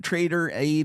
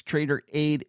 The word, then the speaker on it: Traderade: And it's not Traderade like A-I-D, it's Traderade, A-D-E.